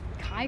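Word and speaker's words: kei: In Japan, they call the K cars, or Kai cars, it's spelled K-E-I.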